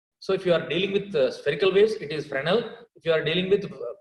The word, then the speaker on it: Fresnel: And remember, it is not Fresnel, S is silent, it is Fresnel, S is silent, Amma.